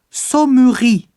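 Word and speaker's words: ソムリエ: Ou encore sa mourri. Sa mourri pour sommelier.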